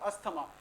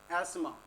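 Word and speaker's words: asthma: अच्छा, अस्थमा, कई लोग स्टूडेंट्स क्या बोल रहे होंगे, अस्थमा। इसको करेक्टली जो बोला जाता है दैट इज एस्मा, correct pronunciation is एस्मा।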